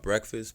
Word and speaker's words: Breakfast: It's called Breakfast, but I pronounce it as Break Fast.